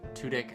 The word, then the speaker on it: Tudyk: which is a lovely web series with alan tudyk a family it's pronounced to dick actually heard him say it in a video